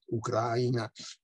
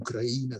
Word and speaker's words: Ucraina: molto di russia ed ucraina secondo la pronuncia locali con krajna secondo la pronuncia russa perfino la pronuncia rischia